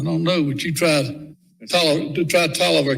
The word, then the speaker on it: Taliaferro: Yeah, I don't know, but you tried Tolliver County. Yeah, that's another one. It's spelled Taliaferro. Yeah.